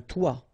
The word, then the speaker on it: toit: Okay, and then both of them are pronounced like toi.